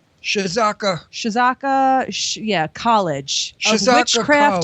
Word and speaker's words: Czocha: it, because I can't pronounce this word. It's Czocha. Shizaka.